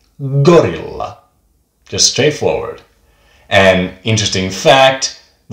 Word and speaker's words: gorilla: It goes like gorilla.